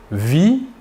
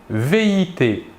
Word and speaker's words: vit: il, elle ou on vit, VIT. Nous remarquons que la prononciation du verbe est la même, vit. Nous ne prononçons ni la S finale ni la T finale.